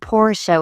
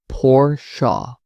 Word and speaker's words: Porsche: I noticed you mentioned Porsche without the final sound. The company emphasizes that it should be spoken with two syllables, Porsche.